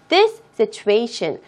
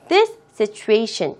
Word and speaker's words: this situation: 여기에서 이 S와 S 두 개의 자음의 연속적인, 똑같은 자음의 연속적인 배열이기 때문에 앞에 나와 있는 this의 S는 정확하게 발음하지 않으셔도 괜찮습니다. 자, 그렇게 해서 this situation, this situation 이렇게 발음해 주시기 바랍니다.